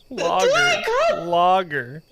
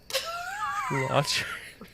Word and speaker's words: logger: You still said it wrong. Logger. Like what they cut down. Logs. I know. I like that you paused. You went lodger.